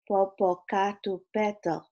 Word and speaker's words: Popocatépetl: And to top it all off, I can't say the name of this mountain, Mount Popocatépetl, I hope you know how to say it, is smoking. Mount what? Popocatépetl. Nicole pronounced it slowly.